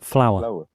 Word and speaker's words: flour: Flower. F-L-O-W-E-R, flower. F-L-O-U-R apa sama? Flower.